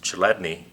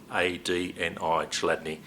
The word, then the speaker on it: Chladni: The chassis design technology actually goes back to the work of Ernst Chladni in the 1700s.